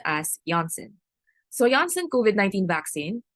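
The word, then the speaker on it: Janssen: usually mispronounce this as johnsen but since this is a pharmaceutical company from Europe it is actually pronounced as Jansen so Jansen coid 19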